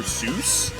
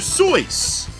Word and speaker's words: Seuss: did you know that it is not actually pronounced Dr Seuss I choose not to believe that because it is I think German or something it's pronounced Dr so but he also said he didn't care either